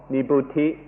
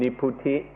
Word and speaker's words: nibbuti: The first kind of coolness is called nibbuti, or in the Thai pronunciation, niputi.